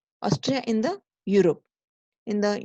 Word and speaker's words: Austria: they makes mistake here they thinks Billups Australia it is not Australia it is Austria Austria in the Europe in